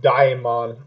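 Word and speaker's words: Daemon: I think it's Daimon. I'm not sure, though. They pronounce it Demon, sir. They say it in one of the songs.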